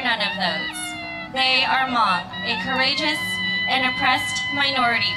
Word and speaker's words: Hmong: pronounced Hmong, with the H silent, means free people.